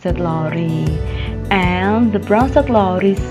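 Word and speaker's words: Brønsted–Lowry: arghanian's theory now is the second figure is pronounced bronsted-lowry and the bronzer glories say the definition of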